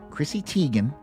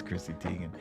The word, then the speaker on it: Chrissy Teigen: Well, I don't know if she's America's sweetheart, but Twitter's sweetheart, Chrissy Teigen. And am I pronouncing that right?